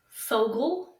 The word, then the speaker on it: Fogle: for bonus points no rhymes with Ogle Fogle Fogle okay so I